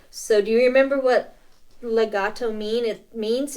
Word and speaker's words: legato: you don't that's it Legato I was I was wanting to say legito well so see that a right right there yeah Legato and it's the opposite